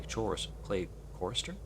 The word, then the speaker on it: chorister: His dead companion was a very talented clay chorister? Okay, chorister or chor... I see. It's related to choirs, so I should probably be pronouncing it, chorister? Chorister. Yeah. So I don't pronounce the CH.